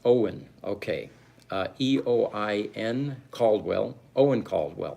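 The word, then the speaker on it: Eoin: First name is pronounced Owen.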